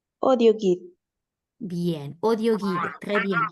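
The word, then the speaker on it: audioguide: audio guide, Digo así, audio guide, si justamente tenemos que la AU suena O. audio guide, Bien, audio guide, très bien.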